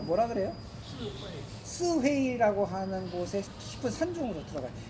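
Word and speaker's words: 四會: 그 중국 발음으로 뭐라 그래요? 스회이라고 하는 곳에 깊은 산중으로 들어가요.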